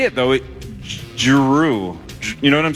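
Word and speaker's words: Jrue: The Celtics and Drew Holiday signed a 4-year, $135 million extension.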